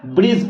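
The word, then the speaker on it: bridge: जी यहां पर देखो इसको हम लोग ब्रीड्स नहीं पढ़ेंगे क्या पढ़ेंगे ब्रिज पढ़ेंगे जैसे और भी एग्जांपल है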